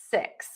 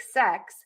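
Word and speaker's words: six: So just know that in America, we pronounce those words differently, and the word 6 is going to have a more closed mouth, and the tip of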